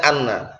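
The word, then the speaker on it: أنّ: Tempat-tempat yang innanya itu di fathah. Hamzahnya di fathah. Berarti bacanya apa? Anna. Bukan inna, ya anna.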